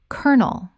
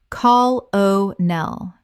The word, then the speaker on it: colonel: Colonel. Common mispronunciation. Call O' Nell. Correct pronunciation. Colonel. Two syllables only. It sounds exactly like the word kernel.